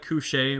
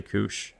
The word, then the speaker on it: couche: I always call it cush, but it's actually couch.